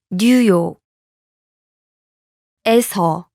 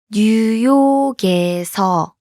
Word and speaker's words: 뉴욕에서: Listen to New York and the location marking particle pronounced separately. 뉴욕. New York. 뉴욕. 에서. The location marking particle. 에서. Now listen to the New York followed by the location marking particle. 뉴욕에서. 뉴욕에서. Notice the difference?